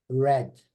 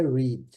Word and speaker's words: read: Agora, no passado, escreve igualzinho, mas a pronúncia é diferente. Read. Estão vendo aí? Observe bem aqui, ó. No presente é read. No passado é read.